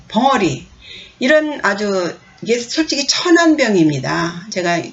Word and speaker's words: 啞: 발음은 요 버금 아, 두 번째 아고요.